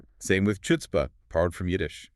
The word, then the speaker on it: chutzpah: But the spelling starts with the CH. In Yiddish, that CH stood for the velar fricative.